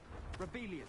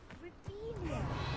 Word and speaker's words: Revelio: Rebellion. Saying it wrong. Rebellion. Much better.